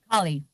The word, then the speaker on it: Akali: Is she, how do you pronounce her name? Akali.